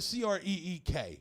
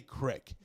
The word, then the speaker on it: creek: Like, I live by the C-R-E-E-K. How do you say that? Creek, right. They say crick.